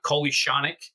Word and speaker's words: Kolyachonok: His name is Vladislav Kolyachonok. I think that's pronouncing it right. I hit the pronounce Google button. That's how they're pronouncing it, Kolyachonok.